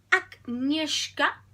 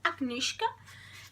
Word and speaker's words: Agnieszka: Agnieszka, según como la autora dice que lo tenemos que pronunciar, Agnieszka, que es una joven de un pueblo...